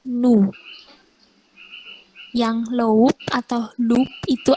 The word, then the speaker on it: nous: Terus ada NOUS nose dibacanya nu.